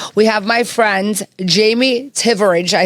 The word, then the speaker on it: Thivierge: have my friends Jamie tivid I said it right you said it because the H is silent h is silent and